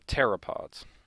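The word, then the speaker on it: pteropod: a group called the terapod uh p is silent in that word these guys are relatively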